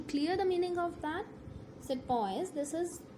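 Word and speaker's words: sepoy: I want to clear the meaning of that said boys this is how the British pronounce the word Sipahi meaning an Indian soldier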